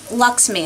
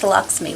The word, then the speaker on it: LXMI: It's by Luxme is the way you pronounce it. It's LXMI. It's pronounced Luxme, which I discovered.